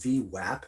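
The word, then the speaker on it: VWAP: volume weighted average price pronounced v wap as an a is an apple not o is an opportunity is comprised of three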